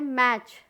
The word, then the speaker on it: match: टी से silent letter T, यहाँ पे मैच, मैच देखिए MATCH, टी साइलेंट वर्ड है, टी क्या है, साइलेंट लेटर